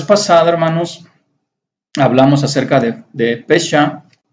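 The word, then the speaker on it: פשע: Y bueno, rebelión está como fecha o pesha, aquí está bafesha la pronunciación, pero solito se llama pesha.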